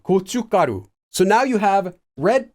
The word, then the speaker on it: 고춧가루: Again, it's not written that way, but it's pronounced that way. 고춧가루.